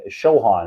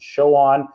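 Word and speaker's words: Chauhan: indian food hybridized with with southern southern food shohan is how you pronounce it show on it's called like a masala bar or something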